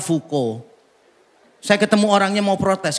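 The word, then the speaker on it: Foucault: Namanya itu F A U C A U L T. Fau Cult. Bacanya fuko.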